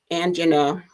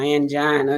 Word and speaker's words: angina: it now there is something called angina or angina depending on how you want to pronounce it that occurs when the